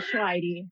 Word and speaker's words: Choairy: Uh, so Michelle Schwidy, I I was just trying to teach her how to pronounce my name because it is a hard one.